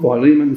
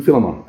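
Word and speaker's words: Philemon: Uh there are all sorts of different ways of saying it. I think Phylon, Phileiman, Filimon. Okay, I'll say Filimon. I like that.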